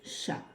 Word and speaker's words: chat: le chat ch le chat avec un A et un T qui ne se prononce pas plus tard nous nous